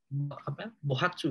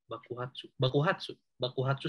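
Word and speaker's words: 爆発: Ya, jadi ini poin pentingnya chotto shita koto de kanjo o bohatsu gitu ya bacanya. Bakuhatsu saseru. Bakuhatsu ya dibacanya.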